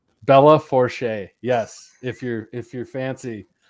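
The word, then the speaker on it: Belle Fourche: I think it's pronounced Bella Forche. Bella Forche.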